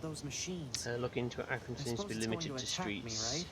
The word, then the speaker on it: Arkansas: as i call it arkansas because it's it's kansas at the end it's kansas and they're like no it's arkansas apparently it's something to do with the french oh hello was the